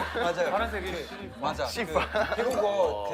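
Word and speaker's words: สีฟ้า: 시파. 맞아요. 파란색이 맞아. 시파.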